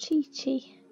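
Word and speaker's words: Qiqi: thought now we create what's actually pronounced chichi i need her i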